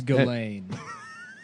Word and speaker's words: Ghislaine: It's Ghislaine. They don't. Yeah, none of the. You don't pronounce any of the letters.